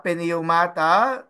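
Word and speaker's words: πνεύματα: But try to just uh, pronounce the pi, no? Pronounce the pi so it is heard.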